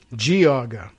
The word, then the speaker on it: Geauga: He sends me GEE hyphen AW hyphen GAH, Geauga. But now I find out it's G, or it's a soft G, Geauga.